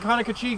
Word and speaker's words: Conococheague: outcrop here is the Cambrian age Conococheague Formation. All right? The Conococheague Formation. Conococheague is spelled C-O-N-O. C-O-C-H-E-A-G-U-E. Conoco, just like the gas station, Cheague. C-H-E-A-G-U-E. All right, now the Conococheague Formation